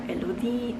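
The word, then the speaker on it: Élodie: in france before and it's lod um or elludi in french and it is a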